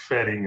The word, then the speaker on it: Wedding: But there is a neighborhood in Berlin called Wedding. You're right. I think what Pam was asking about was the pronunciation of the V and the W. The W sounds like fetting instead of wedding.